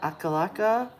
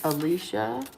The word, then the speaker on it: Alicia: Her name is not Akalaka, and it's not Al-Qaeda. It's Alicia.